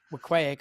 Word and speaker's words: Weequahic: If Weequahic, or however you properly pronounce it, Weequahic, according to Stephen Kelly, if that pops the